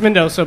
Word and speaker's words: Mendonca: It's Mendoza, but it's... Mendoza. Yeah, it's spelled like shit, so...